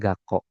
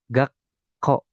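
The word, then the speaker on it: がっこう: Jadi kalau misalkan ada sekuan di sini, dibacanya bukan gako. Jadi dibacanya tuh ada penekanannya gitu. Jadi gakko, gakko.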